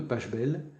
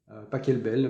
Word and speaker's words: Pachelbel: écouter sur youtube le canon de pachelbel pas quelle belle enfin ça dépend la prononciation c'est superbe c'est très